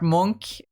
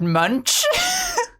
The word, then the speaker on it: Munch: the Davinki part uh instead of pronouncing uh the guy's name as Edward Monk uh he called him Edward Munch. That's what that is what it looks like his name is.